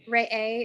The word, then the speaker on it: Re'eh: So I've been thinking a lot since the last Parsha Re'eh, is that how you pronounce it?